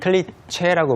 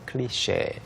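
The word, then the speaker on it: cliché: 클리체라고 뭐 클리치라고 읽으면 안 되고요. 클리셰.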